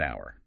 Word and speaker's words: hour: And the classic example, an hour. Because the H is silent, it sounds like it starts with O. An hour.